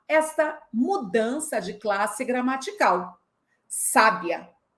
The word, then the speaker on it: sábia: Você sabia que a palavra sabia é verbo? Mas se eu acentuar a primeira sílaba, sábia, vira adjetivo. Mas se eu acentuar a última sílaba, sabiá, vira substantivo? E aí, você já consegue